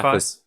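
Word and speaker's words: Celephaïs: This one's a hard one to pronounce because there's those two dots over the I's at the end of it, so it's Celephais. Celaphis.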